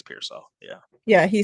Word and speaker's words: Pearsall: I think it's Pearsall.